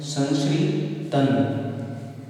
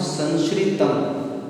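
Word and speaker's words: संश्रितम्: देखें तो आप देखना कई आपको अन्य त्यागीगण इस तरह से उच्चारण करते मिलते हैं संश्रितम, कई जगह अन्य त्यागीगण उच्चारण करते मिलते हैं संश्रितन। सामने देखिए ते शब्द है। यहाँ पर इस भ्रम को मैं आपको दूर करना बहुत आवश्यक समझता हूँ। यहाँ पर संश्रितम माँ का उच्चारण जो हुआ है व्याकरण की दृष्टि से यह 100% सही है।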